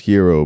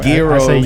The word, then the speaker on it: gyro: gyro I know it's pronounced hero but I said I was waiting on my gears I'm like I've never